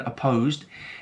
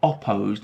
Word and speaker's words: opposed: Now notice the pronunciation of that first vowel in opposed. It's not opposed. We're not pronouncing the vowel as o. No, it's opposed. So that's the schwa sound.